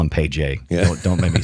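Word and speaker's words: Pey'j: So his name is Paige, but it's spelled. Everything is spelt in a way that does not make any sense to my American sensibilities. Mm-hmm. So Paige is like pay, P-E-Y apostrophe J, and I'm like, I can't do that.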